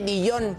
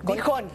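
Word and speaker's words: Dijon: Okay apúntalo muy bien Oiga Cómo se escribe dillón dijón dijón Ajá así entonces tejón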